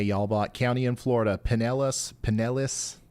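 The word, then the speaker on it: Pinellas: it shout out to pelis county home to Clearwater Beach just remember the emphasis is on the second p p NIS uh also some people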